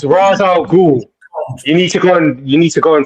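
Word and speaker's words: Ra's al Ghul: First of all, my friend, it's not Raza, it's Raza al Ghul.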